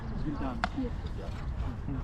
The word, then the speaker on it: Vildan: Vildan. Sorry, my how do you spell that?